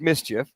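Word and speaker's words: MSCHF: assume it's from the brand Miss Ms CHF pronounced Mischief okay there's some companies selling the big red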